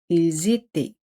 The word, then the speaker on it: ils étaient: Se hace la liaison. Aquí la liaison es obligatorio. Ils étaient. E-N-T no se pronuncian.